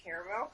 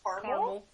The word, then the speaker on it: caramel: at my job because no one can pronounce caramel correctly everybody says carel I hate that and there is there are two A's in that word okay I'm trying like